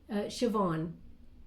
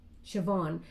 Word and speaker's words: Siobhan: Well, it's definitely a name, but you don't say it like it looks because they're saying something different. Siobhan. Siobhan. So either your name is Siobhan, but it's spelled like S-I-O-B. Whoa. H-A-N or something.